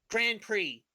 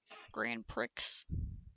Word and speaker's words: Grand Prix: Because it's supposed to be Grand Prix. Oh. Wouldn't it be GPX because pre is spelled PRIX? Grand Prix.